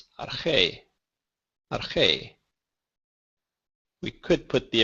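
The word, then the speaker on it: ἀρχή: Notice when I say it, the stress falls on the syllable or the letter that has the little accent mark. So it's not arche, it's arche.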